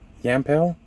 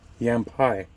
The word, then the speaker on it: Yampai: I Massacre this name yampel guessing yampel NOP yampai not an L it's an I see my bad yampai continuing